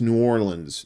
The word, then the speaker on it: New Orleans: New Orleans so and please don't say New Orleans don't don't Yankee FY yourself it's New Orleans New Orleans like o r l i ns say it like that and the locals